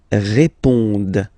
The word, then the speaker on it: répondent: Ils répondent. So same thing here, classic ending, ENT, but then you don't pronounce it.